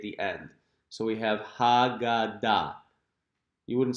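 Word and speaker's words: הגדה: And at the end, notice that the hey is silent.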